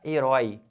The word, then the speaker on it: herói: Herói. Leva acento por quê? É um ditongo aberto oi numa palavra oxítona.